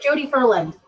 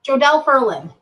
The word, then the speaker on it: Jodelle Ferland: can't remember Jodi Jodi Jodi Ferland I am saying her name wrong jodelle ferland she's six ya know